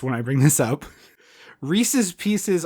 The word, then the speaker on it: Reese's Pieces: Reese's Pieces already rhymes. Oh, yeah. But people will pronounce both words wrong in order to make it rhyme because they, like, for some reason their brain doesn't read it as a rhyme. But, like, the candy is named Reese's Pieces because it rhymes.